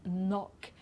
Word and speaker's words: knock: So here we don't pronounce the K, like in knock, knife, knee, and knot.